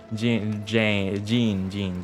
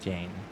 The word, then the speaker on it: Jean: Jean, not Jane.